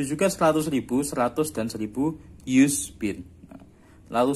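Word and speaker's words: yüz: 100 itu yus, u-nya pakai titik 2, yus.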